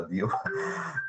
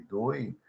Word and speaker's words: Dewey: Até o nome eu não pronunciava Dewey, eu pronunciava Dio.